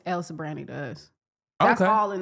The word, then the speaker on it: El Sobrante: Can you spell it? It's Sobrante. Sobrante. But it's El Sobrante to us.